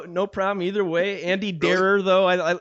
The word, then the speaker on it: Derer: oh yeah no no problem either way Andy darer though I it's hard to pronounce my name I've had it mispronounced so many times it's like darer yeah okay the uh